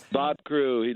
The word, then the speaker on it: Bob Crewe: his name right is it Bob Crewe yeah Bob Crewe legendary Bob Crewe I mean at a certain